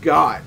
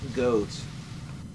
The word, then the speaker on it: Goht: Now watch, I'm going to have a bunch of comments with people saying, it's pronounced Goht, not Goat.